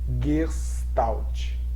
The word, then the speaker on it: Gestalt: sobre psicologia da gestalt e o nome se pronuncia si mesmo g não tem um nozinho aqui mas é gestalt né pode até dar 11 sonido no ter